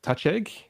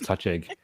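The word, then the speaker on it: Touchegg: think it's it's um touch egg is the one they use i always want to pronounce it touche but i think it's touch egg and i've seen some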